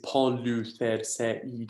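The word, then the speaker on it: Πολυθερσεΐδης: Now notice in this word here, you've got the iota with not only an acute accent, but also the diacritic mark, the two dots, which tells you that that is a separate syllable. So therefore this word is Polytherseide, it's 6 syllables in total.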